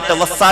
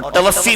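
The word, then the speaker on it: توفّی: علماء بھی بیٹھے ہیں، اس کو بعض علماء نے توفا بھی پڑھا اور توفی بھی اس کا تلفظ درست ہے۔ تو اب توفی کا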